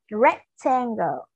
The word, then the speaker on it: rectangle: Các con lưu ý đối với từ rectangle của chúng ta cũng có âm ừ, giống như từ circle, nên khi chúng ta phát âm thì chúng ta cũng sẽ cong lưỡi một chút xíu nha.